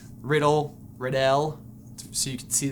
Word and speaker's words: Riddell: Pronounced Riddle.